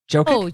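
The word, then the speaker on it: Jokić: Jokick. Jokick. Jokick. I can never remember how to pronounce his last name.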